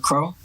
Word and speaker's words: Qro: Yeah, my name's actually pronounced Crow.